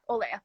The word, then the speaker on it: Olea: How do you pronounce? Is it Olea? yeah, Olea.